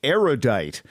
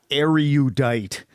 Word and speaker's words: erudite: of erudite people mispronounce erudite which has three syllables not four say erudite not are you diet because you are judged